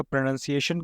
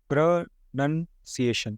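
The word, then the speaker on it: pronunciation: उसके भी पहले आपको ये बता दूं कि ये जो वर्ड है, इसको बहुत से लोग प्रोनाउंसिएशन ऐसे पढ़ते हैं, वो गलत है। ये है प्रोनंसिएशन, प्रोनाउंसिएशन। ये स नहीं होगा, शन होगा। TION, शन होता है, प्रोनाउंसिएशन।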